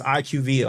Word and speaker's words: IQVIA: But they say IQ and then you just read the rest. So it's IQVIA Holdings. That's how you pronounce it.